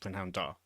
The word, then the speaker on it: prynhawn da: Because there's no hard like consonant sound at the end of prynhawn, so it's just prynhawn da.